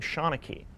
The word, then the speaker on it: Seanachie: Well, if you look at the way it's spelled as opposed to the way it's said, the two don't mesh up.